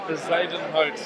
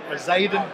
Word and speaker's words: Bezuidenhout: It's pronounced Bezuidenhout. Bezuidenhout. Bezuidenhout.